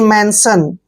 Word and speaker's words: mention: को न पढ़ना है, और जहां भी TION आपके सामने आए उसको आप सन पढ़िए, यानी कि मेंशन।